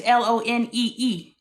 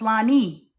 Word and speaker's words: Lonee: My name is Lonee. That's Lone. No, it's Lonee. It's phonetic.